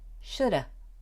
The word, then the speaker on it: shoulda: more tip for you in informal conversation should have is often pronounced shoulda do you know that one it's actually very common and we do this with would have and could have as well as should have so its shoulda woulda coulda I'm really serious